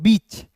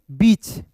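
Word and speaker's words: beach: तो यहां पे इ ए है ना तो इसका उच्चारण ई के रूप में करेंगे।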